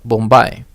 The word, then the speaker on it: Mumbai: it was changed to Mumbai right uh in the 21st century and there is still a contention because in some languages they still pronounce it uh bumbai right with the b instead of the m so you know